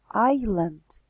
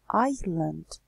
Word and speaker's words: island: situated Rasta Shalini and pay attention to the pronunciation of the words island island of Steve and Ireland Ireland airline chair so